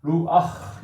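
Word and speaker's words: רוּחַ: 여기다가 줄을 하나 그어주고 원래는 루프인데 루아 이렇게 발음하게 될 정도로 이 후음은 아 계열의 모음을 좋아한다 하는 것을 이제 이렇게 나와 있습니다.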